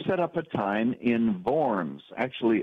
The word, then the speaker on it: Worms: up a time in forms actually a W in German is pronounced like a V but most Americans not knowing that they talk about the diet of worms I always jokingly say